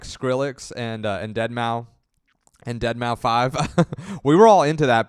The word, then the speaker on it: Deadmau5: And they'd be like, you don't even know, like you don't even know how it's pronounced. It's called Deadmau5.